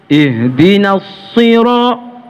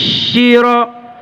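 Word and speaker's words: الصراط: Banyak yang ubah so menjadi shin titik 3. Ihdinas syira. Salah. Tidak tepat. Ya. So itu dia sifat hurufnya sofir namanya. Sofir itu suara yang diucapkan seperti ada siulannya. So, so gitu ya. Ya. So. Ya. In kuntum sadiqin. Jelas. Jangan in kuntum syadiqin. Salah. Atau ihdinas sira. Jangan ihdinas syira. Jelas itu agak keliru.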